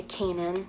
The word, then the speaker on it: Canaan: all but so everybody knows I go by Kanan it's spelled CA and aan K and then I